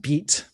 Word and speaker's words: bite: Bite bite in French is pronounced beat.